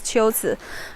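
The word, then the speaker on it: 龟兹: it's actually not here this place should be pronounced as chills all right let me check some comments from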